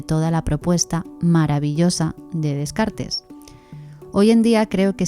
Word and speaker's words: Descartes: ¿Qué sucede con Dec o Descartes como lo pronunciamos en español y en particular con el discurso del método?